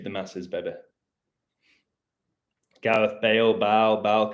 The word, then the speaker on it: Baal: Gareth Bale, Baal can be pronounced as Bale, yep.